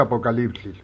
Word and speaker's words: Apocalipsis: se cita esta palabra se dirá Apocalipsis, se pronuncia Apocalipsis, porque esa es la palabra exacta en la lengua koiné ni griega para revelación, ¿de acuerdo?